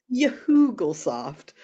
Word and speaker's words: Yahoogle-soft: No, I'm talking about the Yahoogle-soft. Yahoogle-soft. Yes, you are saying it correctly, Thomas.